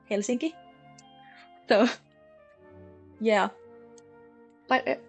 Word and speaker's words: Helsinki: maybe that the capital is Helsinki. Also, I just said that in the English pronunciation. In Finnish, it's Helsinki.